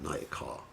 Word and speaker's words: Nayaka: That's masculine, Nayaka. Heroine, which means a female hero, is Nayaka. So Nayaka, Nayaka. A little difference in pronunciation.